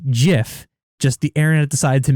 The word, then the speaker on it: GIF: that literally says that the creator's meant for it to say jiff just the internet decided